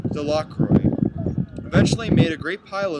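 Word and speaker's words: Delacroix: Jones and Dicky delro the villagers pronounced this name delro eventually made a great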